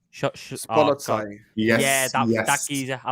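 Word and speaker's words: Szoboszlai: I can barely pronounce after. Right. You can barely say the English player's name. Shoboljaya. Let me Google. Spolotsai.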